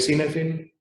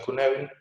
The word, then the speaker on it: Cynefin: Se escribe Cynefin, pero los que lo crearon lo pronuncian Cynefin.